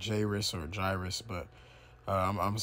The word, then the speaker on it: Jairus: I mean, it's spelled like kind of like Jairus or Jairus, but I'm going to say Jairus through the Spirit.